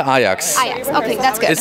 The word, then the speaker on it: Ajax: I would say Lisa Ajax.